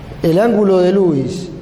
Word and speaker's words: Lewis: técnica se conoce como técnica de lewis que también se pronuncia louis pero lo decimos así para no confundir una línea horizontal que